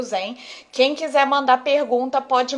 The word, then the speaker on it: Xen: ensinar vocês a falarem porque escreve sem com x mas a pronúncia é vem com z tá então eu vou falar que Zen mas o zen é